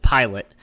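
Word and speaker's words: Pilut: This is actually pronounced Lawrence Pilot, with Yoki Harju as our third line.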